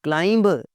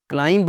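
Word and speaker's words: climb: क्लाइंब, चढ़ना, पहाड़ पे चढ़ना। क्लाइंब नहीं होता, क्लाइंब होता है।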